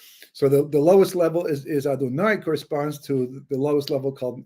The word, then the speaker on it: Adonai: Well, it turns out that if you take the name Yud Kei Vav Kei, well, actually Aleph Daled Nun Yud, which we pronounce as Adonai, right?